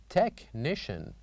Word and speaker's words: technician: And number 8, technician, where H is silent.